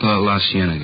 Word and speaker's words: La Cienega: Over on, that street out that way, La Cienega. Is that how you say it? La Cienega, yeah.